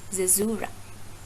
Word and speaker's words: caesura: CAESURA. It is pronounced as caesura, right? Zezura.